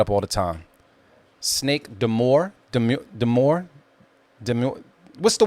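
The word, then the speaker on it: Dior: ] it is yeah how do you say it is it deore de deor yes all right thank youcome so what she said deor I had a phone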